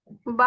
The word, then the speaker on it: ب: با کا مخرج بتائے. جی اپی. It is pronounced from the wet part of your inner lips.